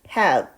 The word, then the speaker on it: have: have 라고 읽으시면 되는데요. 너무 정확하게 뒷부분을 발음이 나게 읽기보다는 약간 have에 가깝게 읽어주시면 원어민이 사용하는 발음에 아주 가깝게 발음할 수 있습니다.